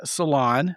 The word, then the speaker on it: Salaun: My guest today is named Lauren Salon. It's not spelled s a l o n, uh, but it is pronounced that way.